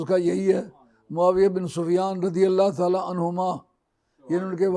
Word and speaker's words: معاویہ بن سفیان: اصطلاح ہے امیر معاویہ، اس لیے حدیث کی کسی کتاب میں امیر معاویہ نہیں آئے گا، معاویہ بن سفیان آئے گا۔ اس لیے صحیح تلفظ اس کا یہی ہے، معاویہ بن سفیان رضی اللہ تعالیٰ عنہما،